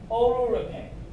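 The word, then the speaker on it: oleuropein: r o p i e n this is pronounced as aurora paint which is coming from oliver tree this is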